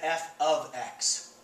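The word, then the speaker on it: f(x): an x inside parentheses it does not mean f times x you pronounce that f of x f is a rule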